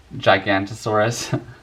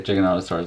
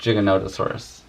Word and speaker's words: Giganotosaurus: I remember before I heard someone pronounce Giganotosaurus, I used to call it Gigantosaurus, but I've heard enough people say Giganotosaurus, and I'm like, that's probably the correct pronunciation, not Gigantosaurus.